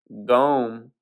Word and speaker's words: gome: from Middle English gome it's like gnome but without the N after the G so just g o m e the English gome it says it twice gome or gome spelled the same way so I ain't sure